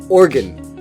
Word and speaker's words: Oregon: contrary to popular belief it's not pronounced Oregon but Oregon now here's the best part I've actually met someone from Oregon and she says organ two syllables organ like an internal organ number seven is New